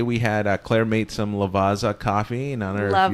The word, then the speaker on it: Lavazza: Yeah, Lavazza.